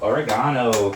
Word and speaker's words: oregano: Bit of oregano. Or oregano, as the Americans say.